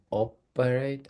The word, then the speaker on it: operate: example operate the emphasis the stress is on the first syllable operate and other operations okay